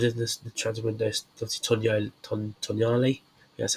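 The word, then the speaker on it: Tonali: Obviously, Tonyali, that's how you pronounce his name.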